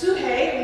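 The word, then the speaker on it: ψυχή: of you the greek word translating soul is pronounced souhey we would look at it in english and say psyche is obviously where we get psychology from good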